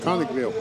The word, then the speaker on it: Conicville: going to have to help me with the pronunciation of this one conicville conicville yep conicville Chand County y now the reason